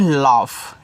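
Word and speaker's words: laugh: मुस्कान ज्यादा अच्छा रहेगा एल ए यू जी एच इसको पढ़ते हैं लाफ ऐसे लाफ पढ़ोगे लाफ लाफ का मतलब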